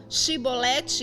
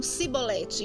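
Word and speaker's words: שיבולת: Então, quando eles iam pronunciar essa palavra Shibolete, eles falavam Sibolete.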